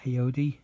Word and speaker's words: Ayoade: And you've got Richard, how do you pronounce that? Ayoade, Richard Ayoade, and Matt Lucas.